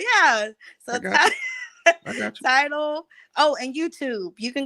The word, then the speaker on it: Tidal: I think I say it wrong. Title. Title. It's Oh, title. Like a tidal wave. Okay. Oh yeah, like a tidal wave. Yeah. Oh yeah. So I got you. Tidal.